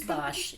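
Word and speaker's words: Bache: It's Bosch, yeah.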